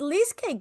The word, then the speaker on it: Leasecake: Uh it's called Leasecake for a reason. Not only is it cute and kitschy, rhymes with cheesecake, and yes, it's a